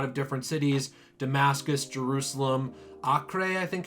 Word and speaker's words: Acre: different cities Damascus Jerusalem Oktay I think it's pronounced even though it's spelled how we'd say acre now there's a few